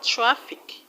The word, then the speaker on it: traffic: Now you're going to stress the second syllable from the end of the word, and the second syllable from the end of the word is lis.